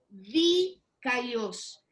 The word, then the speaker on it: dikaios: Entonces tenemos esta palabra primero, hermanos, a ver si la alcanzan a ver, es la palabra dikaios, porque tiene como acento en la I, dikaios.